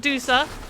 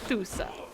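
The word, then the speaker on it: Thoosa: Not Dusa, Thusa.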